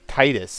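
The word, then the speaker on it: Tidus: And that's, some people say it should be Titus, look tight, but I remember hearing it called pronounced Titus ever since like the trailer when Final Fantasy X was first revealed. And the English announcer called it Titus, so I'm like, okay, Titus.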